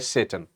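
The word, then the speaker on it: Tsetan: वहां लेके जाएगा उसका नाम होता है सेटन ई को साइलेंट करना है ठीक है बेटा और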